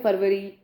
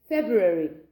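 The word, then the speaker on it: February: कई लोग बोलते हैं फरवरी, तो वो भी इनकरेक्ट है. इट्स फेब्रुअरी, that's in द यूके.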